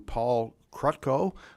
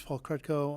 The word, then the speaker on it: Paul Krutko: We're going to move on to Paul Krutko. Hopefully I pronounced that correctly. The president of Ann Arbor Spark. Please come up and begin when you're ready, sir. Excellent pronunciation, Mr. Chair.